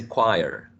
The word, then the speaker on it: choir: ten a people thinking here a it's a choir choir choir and it's spelled CH o I r CH o ir